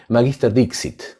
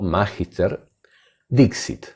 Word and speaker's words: magister dixit: Una de estas falacias es lo que se llama en latín magister dixit. Lo repito despacio. Magister o magister dixit. Les explico algo. El latín tiene más de una forma de ser pronunciado.